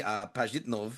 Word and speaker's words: Pajitnov: Tetris creator Alexei Pajitnov, I think is how you say it, is